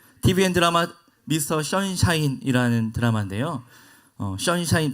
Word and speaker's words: 션샤인: 션샤인 발음이 힘드니까 그냥 선샤인이라고 할게요.